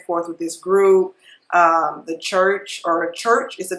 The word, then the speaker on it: Chvrches: The Church is the name of the group, but it's spelled CHVRCH So I don't know. I think it's spelled a little bit different, but I believe it's pronounced church.